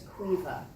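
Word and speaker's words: Caoimhe: lives with her daughter whose name is qua and I want you to know that it's spelled CA o i m h e it's obviously an Irish name right so um so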